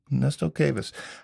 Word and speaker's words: Ernesto Cuevas: Ernesto Cuevas. Did I pronounce that right? Yep, Ernesto Cuevas.